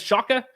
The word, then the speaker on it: Shaka: what they're getting uh shock is smart is that how you pronounce Shaka yep uh one of the